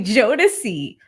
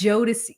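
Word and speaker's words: Jodeci: hit at you but the correct pronunciation of um Jo is actually JY it's jod like right here right here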